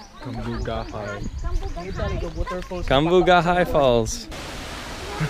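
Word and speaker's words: Cambugahay: And how do you say that? Kamugai or Kamugahai? Kamugahai.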